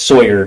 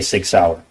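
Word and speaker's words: Sig Sauer: mentions the Sig sour he mispronounced sour as Sawyer which if you purchased that firearm and it was for yourself you'd be familiar with how to say Sig sour okay and I would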